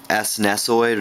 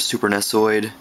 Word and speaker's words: SNESOID: Nintendo it's called Uh snesoid super nesoid or snesoid however however you want to pronounce it super nesoid but it's